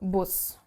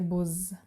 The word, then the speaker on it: Bus: It changes and becomes sharp as in English, so Bus, and you wouldn't say Buzz, because that wouldn't work.